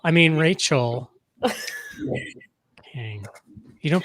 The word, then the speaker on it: Rachel: today uh but the guest of honor is rochelle i mean rachel you don't pronounce that rochelle no that's not hi everyone